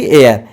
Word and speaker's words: heir: HEIR आको भी उच्चारण कोंती एयर एयर अर्थ उत्तराधिकारी।